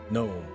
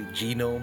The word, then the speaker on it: gnome: So the thing about this chick is she has gnome. Now I understand that is how you say it, but I'm just saying it right now. I like to say genome because it amuses me.